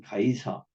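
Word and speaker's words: Caesar: 우리의 우리의 왕은 오직 카이사르 성경대로 하면 가이사 영어식 발음으로 하면 시이죠 나밖에 없다 그런데 저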